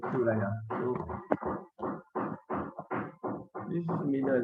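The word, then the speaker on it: Thuraya: Suraya is for those who know Arabic, it is Alif Ba Ta Sa. So it pronounced as Suraya.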